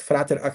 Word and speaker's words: Frater: Frater Aker or frighter a but frater is is a German so the I I believe the the pronunciation should be frater like Latin Aer uh and uh he lives I believe in Munich.